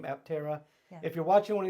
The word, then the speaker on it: Aptera: by the way let's talk about the name aptera if you're watching one of these videos and